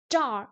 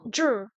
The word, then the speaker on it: 这儿: Ah, jar, non, jur. Jur.